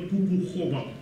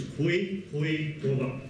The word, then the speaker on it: Khoekhoegowab: And by the way, people, please don't ever use the Afrikaans pronunciation of OE. It's not Khoe, it's not Khoekhoegowab, as I hear. We come to the language, it's Khoekhoegowab.